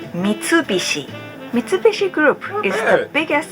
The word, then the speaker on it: Mitsubishi: them number seven Mitsubishi it sounds like it's hard for non-japanese people to pronounce this brand how we pronounce is Mitsubishi Mitsubishi group is the